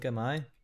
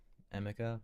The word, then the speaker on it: Ama: Um, someone pronounced your name correctly for the first time. No way. Ama. Do they usually say Emma or AA or something? Okay. I just know that Americans are pretty weird with our pronunciation of I's and most other places say E.